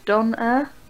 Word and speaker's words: Donair: Donair Uh-oh. is the Canadian way to spell it, and it's pronounced Donair.